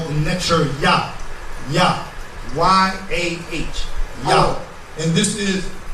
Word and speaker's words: Yah: Yah. Y-A-H. Yah. And this is the netcher Yah. Now, there's also other pronunciations in Kemetic, depending on what time period the netcher Yah was written in.